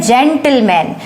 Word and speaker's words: gentleman: जब किसी स्पेलिंग में जी के बाद अगर ई, आई या वाई हो, तो जी का वहां पर जो प्रोनाउंसिएशन होता है वो ज्यादातर ज होता है।